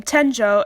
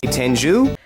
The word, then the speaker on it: Tenjō: This dub even mispronounces Utena's last name, Tenjo, as Tenju? Pro tip, if the letters OU appear in the romanization of a Japanese word, they're pronounced O, not U.